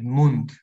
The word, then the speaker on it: Mund: Bueno, la D, como una D en general, dom, al final de una palabra D se pronuncia como T. Por esta cuestión también de pronunciar el final de las palabras más cortante, más fuerte. Mund.